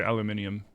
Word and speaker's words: aluminium: aluminum. Your grandma's British, so she pronounces it so funny. Yeah, they say aluminium.